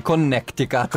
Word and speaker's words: Connecticut: Quindi Connecticut, per chi lo pronuncia un po' male.